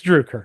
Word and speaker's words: Droucker: know, it's it's Drewer. It's Duker. Thank you. Yes. Uh I you know um while while we were there uh Dennis made a suggestion just drop the U.